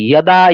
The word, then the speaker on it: যদা: এই জন্য যেরকম শ্রীমদ ভগবত গীতা 4র্থ অধ্যায় 7ম শ্লোকের ক্ষেত্রে যদা যদা আমরা যেটাকে বলি সেটার উচ্চারণ হবে কি? ইয়দা, ইয়দা।